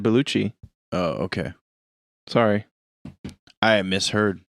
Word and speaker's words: Bellucci: your name wrong what i don't think it's belushi i said bellucci oh okay sorry i